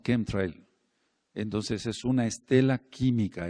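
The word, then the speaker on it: chemtrail: rastro o Estela entonces muchos no le dicen shem tril o Trail sino kem Trail Entonces es una Estela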